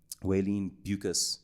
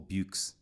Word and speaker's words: Beukes: And so I got my friend Waylene Beukes, or Beukes, depends how you say it.